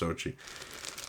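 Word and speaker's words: Zocchi: Yeah, and then Lou Zochi, I think it's pronounced Zochi, starts producing these dice.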